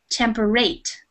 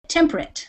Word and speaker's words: temperate: a long a so somebody might want to say this word is temporate but the reality is we say it temperate like you said it so yeah so one